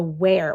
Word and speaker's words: where: are e so where where is kind of one of those funny words that have the silent e at the end we don't really hear that last a sound we hear the what air where sound but this is the